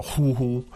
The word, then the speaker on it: 虎: But it's normally the third tone Yeah. for tiger, 虎. But here, you pronounce it as the first.